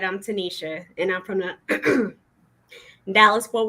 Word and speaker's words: Tanicia: So we have, pronounce it correctly, it's Tanicia.